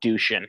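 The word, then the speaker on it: Dušan: First of all, his name is not spelled this way, but his name is Dushin. It's D-U-S-A-N, but I guess they pronounce it in the movie Dushin.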